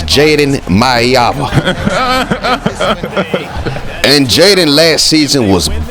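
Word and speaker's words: Jaden Maiava: And whole time I'm saying his name wrong. It's Jaden Maeva.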